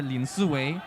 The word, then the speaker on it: Lin Siwei: And next we have Zhouwen Lim Siwei, or Lin Siwei, as his name is pronounced in Mandarin.